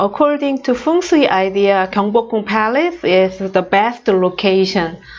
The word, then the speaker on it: Gyeongbokgung: So I know that in English, Gyeongbokgung is a very long word.